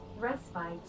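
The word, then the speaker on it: respite: I've always pronounced a rest bit. I always thought it was respit. Is it not respit? Is it resppite? Reset. Respit. All right. What's the British pronunciation? Resbite. Okay. So, I pronounce it American, but British is restbite. Okay, I see. That's my confusion. This American versus British.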